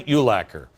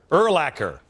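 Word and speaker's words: Urlacher: you lacquer love Brian ulacker now since this broadcast whatever his name is no another apology how do you say it again erlacker we are like this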